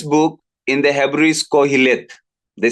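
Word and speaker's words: Qoheleth: name of this book in the Hebrew is Kohhil. The spelling is Q O H E L E H but then it is pronounced as Cohilit.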